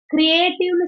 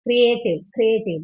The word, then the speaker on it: creative: But the correct pronunciation is creative. Creativity hour, creativity project, இதெல்லாம் தான் நம்ம சொல்லுவோம். Okay, creative experience. So அந்த ஏ அங்க ஒரு consonant sound வருது இல்லையா, creative, அப்ப யா sound is coming there. That's why you are getting 3 syllables.